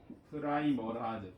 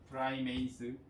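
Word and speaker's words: primase: 그래서 프라이머라제 또는 프라이메이스, 프리마제라고 해도 돼요. 읽는 방법이 다 너무 많아. 프라이머레이즈라고 읽는 사람도 있고.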